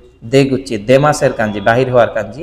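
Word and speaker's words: 出口: এরপর হচ্ছে কুচিটাকে হচ্ছে গুচি বলা হচ্ছে। কি বলা হচ্ছে? গুচি। দেগুচি।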